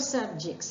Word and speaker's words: subject: as a verb where the pronunciation then changes when we talk about English or history or geography we say subjects but when you use it as a verb referring to something that is causing or forcing someone to undergo something difficult then the pronunciation changes it would then be subject the stresses on jet the second syllable let's take this example